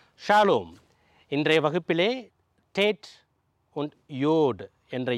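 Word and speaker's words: טית: கொஞ்சம் அழுத்தி இந்த டீயை கொஞ்சம் அழுத்தி உச்சரிக்கணும். டேட்.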